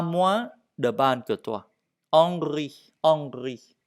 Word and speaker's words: Henri: Henri. Le H, on ne prononce pas. Henri. Ce n'est pas Henry, non.